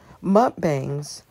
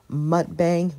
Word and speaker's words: mukbang: Mukbangs often pronounced different ways as mukbang, mukbang, or muk.